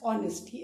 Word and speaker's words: honest: Students, please pronounce this word as honesty. In this word, H is silent.